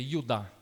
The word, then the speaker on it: Judá: Judas, como nós falamos, no original é Judá, que a pronúncia é Judá.